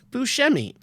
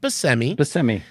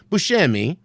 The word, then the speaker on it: Buscemi: last name is pronounced by semi semi and he doesn't correct people because apparently the name should be Proust the Sicilian pronunciation is Buscemi but his family did not take that pronunciation so he goes they're